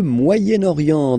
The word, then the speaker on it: Moyen-Orient: So it's interesting here because normally if you would have only this word here, you would pronounce it moyen, moyen, okay? But then as you've got this vowel after, okay, you get to make the liaison between the two, le Moyen-Orient, Moyen-Orient, okay?